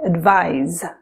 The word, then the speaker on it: advise: you see the s pronounce it like the voiced z sound like in lies so we say advise where you see the